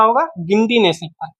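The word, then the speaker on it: Guindy: गिंडी national park. इसकी spelling है English में देखें तो जी यू आई एन डी वाई। लेकिन हिंदी में इसे गिंडी बोलते हैं।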